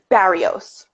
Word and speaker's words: Barrios: good and i'm so sorry i think i pronounce barrios right mario's yeah that's yeah i said it